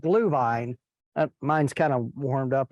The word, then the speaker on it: Glühwein: It's Glühwein. It's spelled G-H-L, umlaut U.